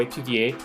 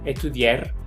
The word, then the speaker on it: étudier: Siempre que vean una palabra con ER, pronúncienla como E.